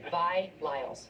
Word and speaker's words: Vi Lyles: Is that how you pronounce Vile. it? Her name is Vile. It's Vi bars. Lyles. That's her name, Vi Lyles.